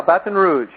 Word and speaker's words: Baton Rouge: Did I pronounce that right? Yeah, Baton Rouge.